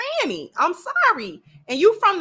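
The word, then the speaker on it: Fani: if you wanted us to say fonny then maybe your mother and father should have spelled it differently or you know once you got grown you like uh people keep calling me Fanny because it's spelled that way nobody's trying to be disrespectful it's spelled that way it's spelled f a n i it's it's it's Fanny I'm sorry and you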